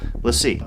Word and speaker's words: LaCie: see Lacey let's see let's just call it let's see I think that's how they pronounce it so let's see let's see Thunderbolt this